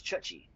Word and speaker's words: Chuchi: We try to pronounce it Ryo Chuchi. Japanese. Ryo Chuchi. Ryo Chuchi. Ryo Chuchi. Alright. Chuchi. It's Chuchi.